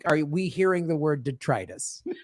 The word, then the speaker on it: detritus: even forgot the word what did you say detressed what was it called detritus detritus okay detritus i love